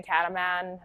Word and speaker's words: Cataman: And then Cataman is spelled just like you hear it.